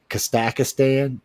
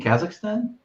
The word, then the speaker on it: Kazakhstan: Kakistan. Because I never pronounce that right.